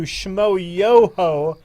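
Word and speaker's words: Schmoyoho: And a special shout out to Shmo Yoho. Accent on the yo.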